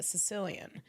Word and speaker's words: Caecilian: Another animal that practices metrificy is the Sicilian. The Sicilians are really, really interesting. It's spelled Caecilian.